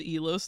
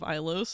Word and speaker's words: Ilos: Even Caden says Elos instead of Ilos in Mass Effect 3.